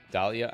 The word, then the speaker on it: Dahlia: joy no i didn't your name has always been with a silent d ah dahlia i'm sick of your